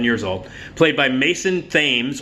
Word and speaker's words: Thames: old, played by Mason Thames, or Thames if he has the British pronunciation of the river, and Madeline McGraw.